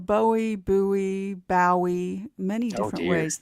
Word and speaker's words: Bowie: So Dave Crockett, James Bowie, and Daniel Buy. Yes, please. Let's do say buoy. James Buoie. Yes, it should have two O's. Jim Buouie. Jim Buouie. No, it's pronounced Bowie.